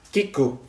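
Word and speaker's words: 聞く: Bacanya kiku, artinya mendengar.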